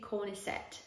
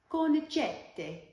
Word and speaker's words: Cornicette: So I call these the Cornicette socks because that's how I read the word. But if you're an actual Italian person who actually speaks Italian, you don't even have to be Italian to speak Italian, but if you speak Italian, you would know that it's actually pronounced Cornicette.